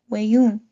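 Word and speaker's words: huevón: Words that end in v o n, the letter v would be dropped. For take for example the wordon meaning lazy the letter V would be dropped to sound like way.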